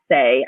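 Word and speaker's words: Saie: have heard of the brand say s-a-i-e but pronounced say I said why um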